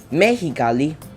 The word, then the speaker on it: Mexicali: the a of Mexico this is pronounced like an H in English Mexicali would be Mexicali Mexico would be Mexico